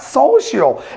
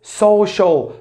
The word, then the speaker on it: social: english for years pronounce this word social social it's not social it's social social social social or sociable